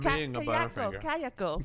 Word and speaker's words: Kayako: I'm Kayako. Kayako. I could never pronounce it. Is that how it's pronounced? I don't know. Okay, that's Sam. It's like kayak but with an O.